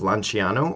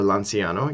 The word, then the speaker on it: Lanciano: which is the Eucharistic miracle of Lanciano or Lanciano. You might hear it pronounced either of those particular ways.